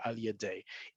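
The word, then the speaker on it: על ידי: So if you're saying the sentence out loud or if you're reciting the news or whatever, you're going to say al yaday even if it's written as ain yud yud ain gershaim yud.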